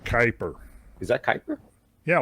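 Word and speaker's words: Kuiper: I think it's pronounced kyper.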